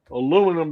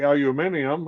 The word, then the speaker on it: aluminium: Aluminum being one of them." Or you could say aluminium if you're from the other side of the pond.